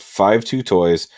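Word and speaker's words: 52Toys: to a degree uh the company's name is pronounced five two toys five and two means i love in chinese so it means i love toys it's interesting um but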